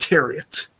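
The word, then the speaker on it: Thieriot: He said Terriot, and I have video proof of it, so I'm going to go with Terriot. Okay, huh. That is not how I would have guessed it would have been pronounced anyways.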